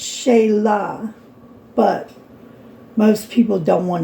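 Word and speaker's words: Shelah: My name is Sheila. It is spelled S H E L A H. Not S E. Not S H E I L A. Okay. And it's not really Sheila, it's Shayla.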